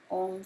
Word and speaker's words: Om: and finally we chant Om for 5 minutes before the meditation. Om is the sacred sound of creation. It is 3 separate syllables, A, U, and M.